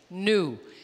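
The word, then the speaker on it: knew: Novo é new, sabia, verbo to know, saber, past tense, new. Então, a pronúncia é exatamente igual.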